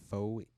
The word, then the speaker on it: Phoenicians: Other ancient civilizations whose citizens wore wigs were the Greeks, Romans, Assyrians, and the Phoenicians. Phoenicians? Yes. Phoenicians. I tried to pronounce the E.